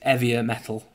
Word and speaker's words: 'Eavier Metal: It's eavier metal. Like heavier without the H.